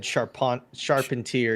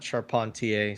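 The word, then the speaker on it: Charpentier: I think I think Rome's mom said Sharpon sharpener is the right way to say it. It's not Sharpontier.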